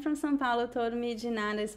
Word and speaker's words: de nada: I think that in São Paulo, the most common pronunciation is de.